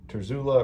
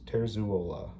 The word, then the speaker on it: Terzuola: I know some people say Terzula or Terzola. I'm pronouncing it the way that he does in his videos, Terzuola, right? Terzuola.